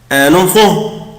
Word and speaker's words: enfant: un enfant طفل. طبعا مش بنطق حرف التي. enfant بصوا الاو ان زي الا ان enfant un enfant طفل.